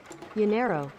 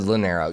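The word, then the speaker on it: llanero: my phone loreno uh pronunciation is it l-l-e-r-n-o l-l-a-n-e-r-o l-l-a parker leave my phone alone uh yellow your nail nailer what yanero yanero yanero yanero okay i was close i just said linero yeah i guess the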